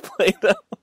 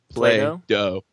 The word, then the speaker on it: Play-Doh: Play-Doh. Oh, dough as in dough, moldable dough. Play oh, with it. Oh, yeah, play but with the dough. But it's spelled D-O-H.